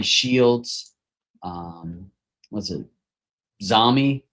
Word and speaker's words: Xiaomi: Xiaomi. How do you say that? Xiaomi.